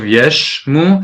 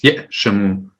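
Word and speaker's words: יָשִׂימוּ: So here the aleph is pronounced because there's a shava under it. Yeah. Instead of yeshmu, it's yeshamu. Yeshimu. Yeah, perfect. Yeshimu.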